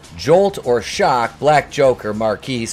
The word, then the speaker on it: Marquis: refuses to lock up marquis pronounce marcus because he's